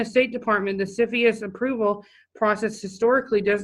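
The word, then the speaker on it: CFIUS: in the United States commonly pronounced Sophia's it's an inner agency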